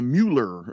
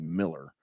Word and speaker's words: Mueller: thing where it's like I'm going to the Mueller or whatever and it's like that's actually Miller and you get all the back and forth well that's that's German that's yeah that's German pronunciation though yeah or I'm driving